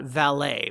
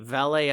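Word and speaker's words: Valle: i-40 corridor first off you've got valet valet i think is how it's pronounced v-a-l-l-e which sits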